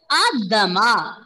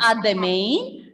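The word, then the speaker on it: à demain: It is not Adamain. The Adamain is wrong. That is how you read in English, but it is Adama. N will be silent.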